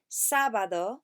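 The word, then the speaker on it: sábado: Thursday Magnus is Friday sabado with an accent on the first day Sabbath or is Saturday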